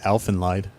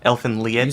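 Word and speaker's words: Elfen Lied: Well, first let me start by saying today I learned the proper pronunciation of one of my favorite anime. Which one? I always called it Elfenlied.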